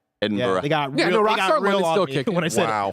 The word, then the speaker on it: Edinburgh: Uh Edinburgh. Edinburgh. Pronounced that. No Edinburgh.